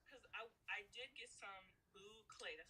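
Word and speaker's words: bouclé: Okay, so with this, um, I was looking at my other because I did get some boucle. That's how you say it, boucle yarn. Boucle, I yeah.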